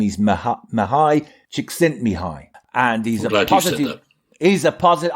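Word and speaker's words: Mihaly Csikszentmihalyi: seating to say his name his name is mahai chick sent me high and he's he's a positive i can and i can almost spell it he's a positive psychologist and he um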